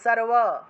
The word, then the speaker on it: সর্ব: অচিন্ত্য রূপ চরিতে সর্বশত্রু বিনাশিনী, সর্ব সর্ব উচ্চারণ হবে, এটা সর ব উচ্চারণ করা যাবে না, সর্ব, এভাবে ও উচ্চারণ আসবে, ও সর্ব সর্ব সর্ব শত্রু বিনাশিনী রূপম দেহি জয়ম দেহি যশো দেহি দ্বিষো জহি।